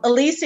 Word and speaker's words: Alicia: americans usually say alicia i grew up with alicia which is the hispanic heritage of my mom um where my name came from so elysia is how i grew